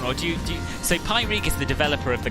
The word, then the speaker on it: Pyreegue: is pyregon how do you pronounce it you pronounce it pi reg i have i did check this before i